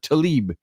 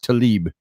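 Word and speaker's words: Tlaib: last night yeah Philibert Talib I think that's how it's pronounced Talib it's TL AIB is the way it's spelled so yeah that is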